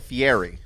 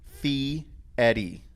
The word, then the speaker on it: Fieri: knew I caught it Fieri yeah and it's not it's actually fee Eddie really yeah it's yeah like Eddie like the name Eddie mm-hm with a fee